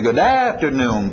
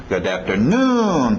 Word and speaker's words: good afternoon: Ok, cuidado que o ritmo vai lá no final, ok? A tendência vocês vão querer dizer good afternoon, param-papam. Não, é good afternoon, papapá, e batendo lá no finalzinho, ok? Good afternoon, nossa batida.